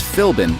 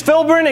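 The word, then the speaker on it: Philbin: The answer to the puzzle was very clearly Regis Filin and Kelly Ripa. And contestant Shane knew it. He did not, however, know how to pronounce Regis's last name. Regis Filbrin and Kelly Ripa.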